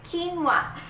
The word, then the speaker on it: quinoa: how do you spell it how do you pronounce it it's quinoa I know a lot of people who have